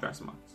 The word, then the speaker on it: Thrasymachus: And that man is, I'm gonna butcher his name, Thrasymachus. We're going with Thrasymachus.